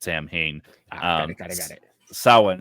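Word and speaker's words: Samhain: we talking about actual that's how the English people pronounce it Sam Hayne got it got it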